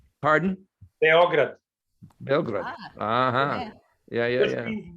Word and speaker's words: Beograd: How do you guys pronounce it in Serbia? What would be the accent? Pardon? Beograd.